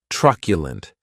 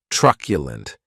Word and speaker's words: truculent: The next adjective is truculent, and this word has 3 syllables, and the stress is on that first syllable.